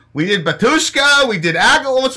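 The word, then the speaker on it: Agalloch: We did Alagok or whatever. Hey, bro, can you tell me how to pronounce that band properly? I believe it's Agalok.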